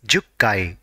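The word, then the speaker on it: 十階: For 10th floor, it is jukkai.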